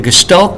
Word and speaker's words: gestalt: gestalt theorists from germany that's how you say it you don't say je or st you say stalt with a sh in there the gestalt theorists said you've got